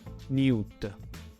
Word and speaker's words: niut: Poi la schematica pianta circolare di una città, in egiziano Niut, con strade che si incrociano, seguita dai fonogrammi I e T, pulcino di quaglia e forma di pane.